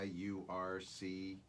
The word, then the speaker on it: Yurcich: I don't know how you pronounce the guy's last name. Yurcich. Oh, Smith. Yurcich.